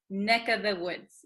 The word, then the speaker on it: neck of the woods: neck of the woods usually this of the V sound kind of disappears because V's are hard to pronounce so we tend to say NECA the woods NECA this of becomes just the vowel sound uh neck of the